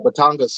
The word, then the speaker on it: Batangas: do you say batangas coffee yes oh batangas yeah oh yeah they're known for uh they